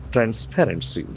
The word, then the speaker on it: transparency: So the accent falls on the second syllable. Transparency.